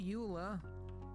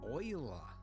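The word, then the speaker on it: Euler: got it okay rotation rotate not Ula oila that yes I know they went with the weird pronunciation I think it was a Frenchman right could be German doesn't matter same same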